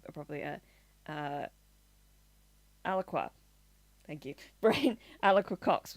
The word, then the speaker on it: Alaqua: Uh, Alaqua.